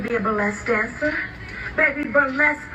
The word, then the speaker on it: burlesque: a blessed dancer baby burlesque rhymes with flesh and you need to